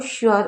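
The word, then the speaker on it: sure: अब एस यू यू आर ई को श्योर पढ़ते हैं। जैसे श्योर कहीं पर भी अगर ये साथ में आएगा तो इसे श्योर पढ़ेंगे।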